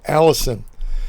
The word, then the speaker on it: allicin: are found in garlic is called allicin not not like the woman's name a-l-l-i-s-o-n this is spelled a-l-l-i-c-i-m now you see a